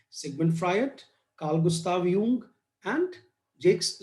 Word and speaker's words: Jung: ठीक है, एक आपको Karl Gustav यूंग, JUNG, यूंग उनका प्रोनाउंसिएशन है, यूंग का नाम याद रखना है।